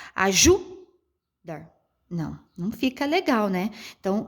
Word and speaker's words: ajudar: Ó, ajudar. Não fica legal, né? Então, automaticamente, nessa minha pronúncia, quando eu entono mais a minha voz, a sílaba mais forte que eu pronuncio é o dar.